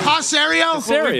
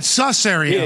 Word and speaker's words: Caserio: Caserio. Been saying. Tom Brady said Susserio.